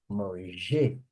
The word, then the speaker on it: mangez: A pronúncia só muda no vós, ó. Vous mangez. Vous mangez. A pronúncia vem para cá. O resto é tudo mange.